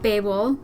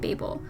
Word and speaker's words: Babel: in the Tower of Babel series by Josiah Bancroft. I am pronouncing it Babel, not Babel, because that's how the narrator pronounces it in the audiobook.